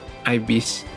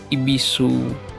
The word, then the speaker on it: ibis: By the way Did you know is actually pronounced as Ibis I Only Found This Out Now I thought it follow pronunciation like ibisu or Ibu and then i search for the